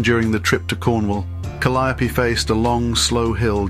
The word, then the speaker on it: Calliope: the vehicle was christened Calliope rhyming with me after the iconic steam organs of the late 1800s yet dad just to be awkward said her name in the same way the Greek Muse is pronounced proud folks stare after